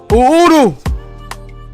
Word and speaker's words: Uhuru: checking in we're about to go live with udu yeah i said it right yo it means